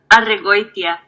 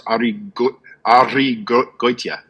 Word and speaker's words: Arregoytia: Arregoytia. Arregoytia. That Goitia is really hard, because especially after you try and roll your R's. Arregoytia.